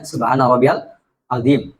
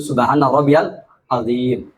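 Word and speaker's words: subhana rabbiyal 'azim: agungkan Allah makanya bacanya subhanaabbialim bukanim sebagian dari kita bacanya Salah subhanaabbialim itu keliru yang betul subhanaabbiyalim bukan kemudian kalau sujud subhanaabbial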